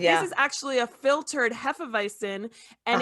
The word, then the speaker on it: Hefeweizen: Now, if you drink the we say Hefeweizen, that's the way you pronounce it.